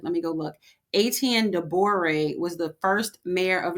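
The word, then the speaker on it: Étienne de Boré: I didn't want to pronounce his name on so I was like let me go look. Aten Doré was the first mayor of New Orleans.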